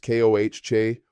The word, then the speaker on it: coche: Car is coche or auto, pronounced koh-che or ow-to.